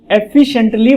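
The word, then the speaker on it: efficiently: जब आप एफिशिएंटली बोलते हो, इसकी स्पेलिंग मैंने भी गलत लिख दी, जब आप बोलते हैं एफिशिएंटली, जब हम बोलते हैं एफिशिएंटली, एफिशिएंट सी के ऊपर सारा फोकस आ रहा है, और यहां हम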